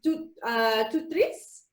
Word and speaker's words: TOOTRiS: So the TOOTRiS word is from, it's a French word, and it's pronounced TOOTRiS.